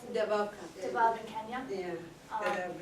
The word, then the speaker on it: Dadaab: And we talked a little bit about Dadaab, is that how you pronounce it? Dadaab.